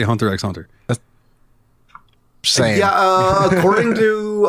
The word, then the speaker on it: Hunter x Hunter: skuru DD so yeah apparently you do not say the X on this one so Hunter x Hunter Squad represent we're in